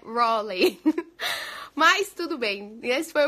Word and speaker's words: Raleigh: Aí eu falei, Halley, que era o que tava escrito no papel, Halley. Só que não é assim que pronuncia, é Raleigh, Raleigh, Raigh, acho que é isso, Raleigh.